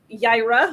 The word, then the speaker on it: Yaira: we're to go over jaira oh i said it right i'm proud of myself i keep i think i was i kept saying like era or something like i